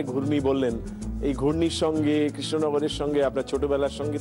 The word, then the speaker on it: কৃষ্ণনগর: তিনি তখন বলেছিলেন যে এটা কেশনগর তখন উনি বলেছিলেন না না আপনি ভুল বললেন এটা কৃষ্ণনগর পরিষ্কার করে উচ্চারণ করে বুঝিয়েছিলেন যে আমি শুদ্ধ উচ্চারণ করলাম তখন নাকি কেশনগরের সেই